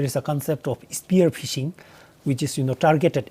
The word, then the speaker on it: phishing: common cyber threats is fishing ah so when we say fishing uh it is spelled p h i shing and fishing we categorize